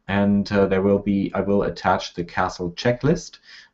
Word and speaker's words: CASL: So we're going to just call it Canadian Anti-Spam Legislation, and I pronounce that CASL because I like castles.